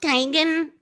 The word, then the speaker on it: Teigen: Actually, I think it is technically Teigen. I think I remember her tweeting that. Being like, it's pronounced Teigen. She's like, people say Teigen all the time.